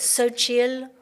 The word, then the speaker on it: Xochitl: Well, this takes me back to a quote by Xochitl Gonzalez, who is she's an author, an American author. So, or so how do you Mexican pronounce author. her name? Xochitl Gonzalez. Xochitl Gonzalez.